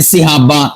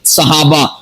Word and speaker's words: صحابہ: زیر ہے۔ اسی طرح ہم بول دیتے ہیں نماز، نماز نہیں ہوتا، نماز ہوتا ہے، نون کے اوپر زبر ہے۔ ہم بول دیتے ہیں صحابہ، سواد کے نیچے زیر، غلط ہے، صحابہ، سواد کے اوپر زبر